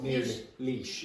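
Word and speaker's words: Laois: How do you pronounce that? No. Leash.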